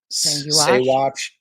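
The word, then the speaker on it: Saguache: Saywatch. You don't pronounce the G.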